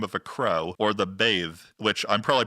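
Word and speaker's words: Badb: a crow or the bathe which I'm probably pronouncing wrong it's spelled b a DB and the YouTube video said it was more like a V sound there are some differences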